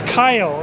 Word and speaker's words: Keil: It's Kyle. It's spelled a little different. It's Keil.